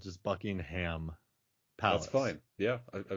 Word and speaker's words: Buckingham: when when yeah making a scene in in Buckingham Palace which for what I find curious about